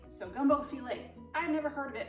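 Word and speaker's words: filé: And I even had to look up what it was called actually, because it's not file. It's actually pronounced fillet. So gumbo fillet.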